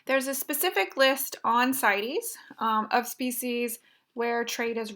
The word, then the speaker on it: CITES: That's how people pronounce the acronym there, CITES, which stands for the Convention on the International Trade in Endangered Species.